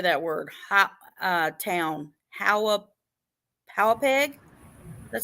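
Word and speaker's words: Hauppauge: Howapeg? That sound right? I would say that, yes. Howapeg.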